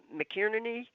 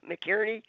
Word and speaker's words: McInerney: His name is McInerney. McInerney. McIerney. McInerney, I think is how it's pronounced.